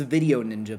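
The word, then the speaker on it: VDO.Ninja: It's video ninja, but it's spelled like vo ninja.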